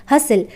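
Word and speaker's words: hustle: मतलब क्या होता है यहां पर टी साइलेंट है हस्टल हासिल का मतलब होता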